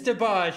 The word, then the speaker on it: DeBarge: I think that's how you pronounce them. Is it DeBarge? It's DeBarge.